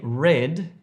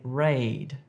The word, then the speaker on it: raid: So don't say red if you're trying to say raid.